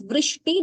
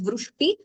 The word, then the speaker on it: वृष्टि: In that way we should pronounce it as vrishti, not vru. It should not, we should not have the ukara there. It shouldn't be heard as vrushti.